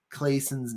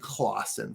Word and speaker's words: Clason: just gather the main ideas, listening to it on Audible, and I have been pronouncing George S. Clayson's name wrong. I've been saying Clawson for some reason.